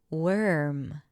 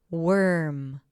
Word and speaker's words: worm: Worm. Worm. Worm. Now again, if you were to pronounce the O as an O, O O, warm.